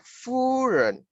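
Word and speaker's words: 夫人: Ini bacanya Furen. Furen.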